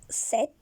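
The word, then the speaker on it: sept: So the pronunciation is set.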